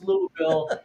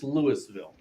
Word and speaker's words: Louisville: If you're in Kentucky, it's Louisville. If you are in Denver, it's Lewisville.